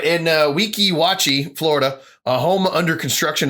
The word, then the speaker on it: Weeki Wachee: The backstop ends just feet where the property line of another home in the, Weeki Wachee? Yeah, that's how you pronounce it. Weeki Wachee.